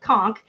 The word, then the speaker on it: conch: I told Julie I wasn't going to do this, but I have to tell you, it's actually pronounced conch, but conch shell is a controversial statement.